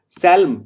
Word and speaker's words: psalm: सैल्म, PSALM, सैल्म, यहाँ पे पी का उच्चारण नहीं होता।